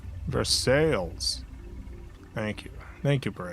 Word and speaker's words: Versailles: Versailles is for sales. Versailles.